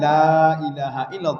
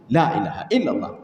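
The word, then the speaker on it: لا إله إلا الله: Sebenarnya kan boleh bacanya panjang apa namanya cepat tetapi lanya dipanjangkan sedikit. Lailahaillallah. Lailaha jangan lailahaillallah. Lailaha itu salah. Yang betul la kalau mau cepat lailahaillallah lailahaillallah lanya panjang.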